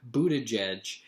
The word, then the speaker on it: Buttigieg: that, like, Buttigieg, and they didn't pronounce it but, because maybe that would have been a little too on the nose for this one, but they pronounced it Buttigieg, and it's like but, and Jedge sort of sounds like judge, so it's like butt judge, and he's the famously